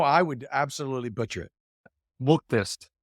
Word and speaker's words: Muuktest: Muuktest. It's M-U-K test. Muuktest.